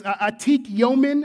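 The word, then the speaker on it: Atik Yomin: a a Hebrew phrase It's Atik yomen is how you say it in Hebrew and it literally means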